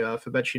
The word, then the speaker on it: Febechi: It is FEBECHI. So like Betchy.